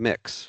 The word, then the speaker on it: Mx: In my experience, you might want to try using mix. That's MX or pronounced to mix.